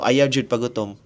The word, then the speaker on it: ayaw pagutom: Hwag this is how you say it so ayaw pagutom Like for example like that So Hwag kang